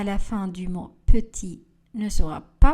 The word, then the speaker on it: petit: Le T à la fin du mot lait ne sera pas prononcé.